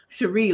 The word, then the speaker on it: Cherie: Cherie, like Monet, Cherie.